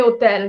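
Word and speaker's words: hotel: আকা কমে ওতেল, যেমন আমরা আমরা কিন্তু ইংলিশে বলি হোটেল হ, আর ইটালিয়ান বলে ওতেল, সো এটা উচ্চারণ করা হয় না।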